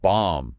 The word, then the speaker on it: bomb: Then bomb, like an explosion. That O is a much more open ah sound like in father bomb.